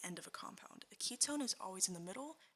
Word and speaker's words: ketone: next we have the Ketone versus the aldehyde so the Wehrenberg ketones because it sort of sounds like a key tone so I imagine a